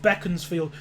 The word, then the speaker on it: Beaconsfield: It's pronounced Beaconsfield. Well, sorry! Sorry about that, jeez. I've pronounced it both ways, Beaconsfield, Beaconsfield, but, you know.